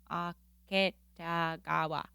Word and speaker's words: Aketagawa: Aketagawa. You did it. Yay. Break up the syllables.